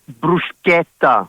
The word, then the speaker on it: bruschetta: Is it brusqueta? Do you hit the C in that? It's bruseta. Yep.